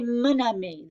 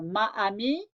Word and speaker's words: mon ami: But look here, ami is feminine, but because it starts with a vowel and the French need to make that liaison, we're going to say mon ami. That's easier for them to pronounce. They don't want two vowels together. Ma ami? No, not right.